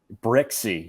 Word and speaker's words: Brixey: That's how you say that. Brixey.